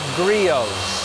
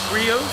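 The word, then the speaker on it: Griot's: out here, that's pronounced Grios. Grios. Grios. Most people they spell it out phonetically, Grizz, cuz that's how it looks like it would be said, but it's Grios. The T is silent.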